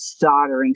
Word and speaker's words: soldering: So, it is soldering. So, that's how you spell soldering. Soldered. See, I would have never knew that L is is silent.